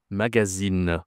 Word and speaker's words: magazine: Ici, ce n'est pas une nasale. Tu dis le e, tu prononces le e magazine.